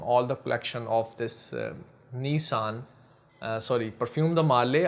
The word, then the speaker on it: Nisean: Nezha, I'm not sure what how to pronounce it but I normally pronounce it like Japanese do Nezha. Uh, Nezha uh nice scene. Okay, so I would say nice scene.